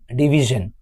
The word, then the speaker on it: division: When a word is ending with SION, it will pronounce as jun.